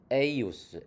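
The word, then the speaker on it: eius: at in 예숨 크리스툼 필리움 에이우스 우니쿰 도미눔 노스트룸. 네. 이게 이제 J가 이 발음 나니까 제숨이 아니고 예숨이죠. 그 다음에 여기 에주스가 아니고 에이우스, 에이우스죠.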